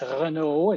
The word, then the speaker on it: Renaud: last name is spelled Renaud, and it's Renaud. It's French Canadian, and it's often accompanied with my religious moniker OMI, Oblates of Mary Immaculate.